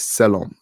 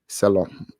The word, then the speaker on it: Selorm: But yeah, my name is Selom. Selom. It's Selorm, but the R is pronounced, it's a little silent. So it's Selom.